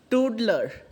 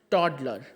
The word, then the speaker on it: toddler: can replace child y toodler toodler okay toddler sorry not tootlers toddler uh the pronunciation should be toddler okay so you can